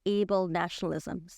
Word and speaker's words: ablenationalism: Now, you must tell me if I'm saying this wrong, but what is able-nationalism?